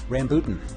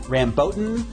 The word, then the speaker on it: rambutan: neck hole to feed the correct answer rambutan now there are several other pronunciations including rambutan or rambutan or also well black